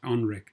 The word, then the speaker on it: NREC: launching his own company, familiarly known as NREC, pronounced ONREC.